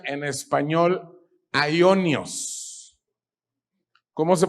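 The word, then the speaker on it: αἰώνιος: En el Nuevo Testamento, la palabra griega más frecuentemente traducida como eterna es una palabra griega que se pronuncia en español aionios. ¿Cómo se pronuncia?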